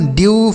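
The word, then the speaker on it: dew: तो अगर ई के बाद डब्ल्यू रहे तो ई का उच्चारण यू के रूप में होगा। किसके रूप में? यू। जैसे न्यू, स्यू, ड्यू, फ्यू, ब्लू।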